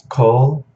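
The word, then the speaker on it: כל: Notice there are different ways of spelling this word, but both are pronounced the same. That is because this is a Kametz Hatuf with that O sound.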